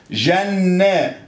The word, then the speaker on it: جنة: الله، ده النون يا استاذ نطقتها لي مرتين اهي. ايوه يا سيدي جميل، اوعى تكتبها مرتين. لا ها، هكتبها ايه بقى؟ برافو عليك، نون وعليها ايه؟ شد، شد يعني نون عليها سكون. طب والنون الثانيه نطقتها ايه؟ جنة، نا، نا، يبقى مفتوح، يبقى شده وفتحه.